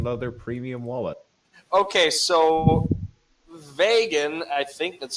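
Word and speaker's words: Vågan: vagin wallet seeking wallet you know rhymes with reagan he is watching that's a $40 vegan leather premium wallet okay so vagin i think that's how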